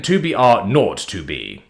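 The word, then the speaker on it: 2 B R 0 2 B: story 2B R o2b the zero is pronounced not okay then 2BR R not 2B The Narrative takes place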